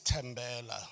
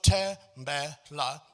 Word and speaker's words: Tembela: So Tembela, my name is made up of 3 syllables. But the 3 syllables of my name don't have a similar stress pattern.